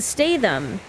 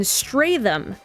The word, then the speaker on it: Statham: However, half the time, the narrator pronounced his name Jason Statham, and the other half of the time, she pronounced his name Jason Stratham.